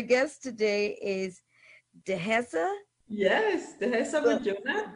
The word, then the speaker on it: Dihessa Bodjona: Yes, Dihessa Bodjona. Bodjona.